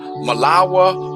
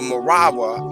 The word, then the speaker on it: Marawi: district on the niger malawah or marawi as the negros pronounce it for they seem invariably to substitute the r for the l of the moors is the nest is